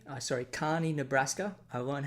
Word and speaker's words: Kearney: watertown wisconsin lisbon north dakota mitchell south dakota kearney sorry carney nebraska i learned how to pronounce that just the other day gallup new